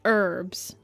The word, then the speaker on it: herbs: I do um I do flip-flop between herbs and herbs. I am aware you're supposed to say herbs. Drop in the H.